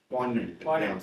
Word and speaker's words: poignant: Poignant. Yeah. The G is silent.